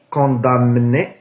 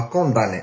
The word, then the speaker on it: condamné: اون بروميير طون ما كنطقوهاش كوندامني، كنطقوها كونداني، لو ديرنيي جور دان كونداني.